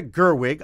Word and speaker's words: Gerwig: name is uh Greta Gerwig I'm hoping it's Gerwig and not Gerwig but I'm going on I'm thinking it's it's double it's hard G on both sides gret and gret